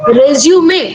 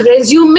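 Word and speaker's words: résumé: you call CV, and resume. By the way, it's pronounced resume and not resume. Resume is another word, it's a verb.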